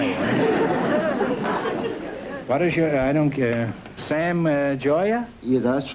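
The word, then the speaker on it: Gioia: Sam Joya.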